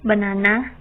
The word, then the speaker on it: banana: For example, in the word banana, the stress is on the second syllable.